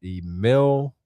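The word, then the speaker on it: Émile: It's not Emily because it's it's like some type of it's like a hash over the E.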